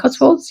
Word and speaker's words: Cotswolds: Is that how you pronounce it? Cotswolds? Cotswolds, yeah.